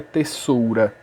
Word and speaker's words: tesoura: Mas eu sei que a pronúncia dessa palavra é tesoura, porque esse S daqui está entre duas vogais. Então, quando um S está entre duas vogais, ela tem som, e esse S tem som de Z.